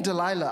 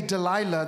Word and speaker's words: Delilah: that they would say Delilah that the way that it was pronounced it it had a similar pronunciation to to to saying of the night or Darkness both these for Samson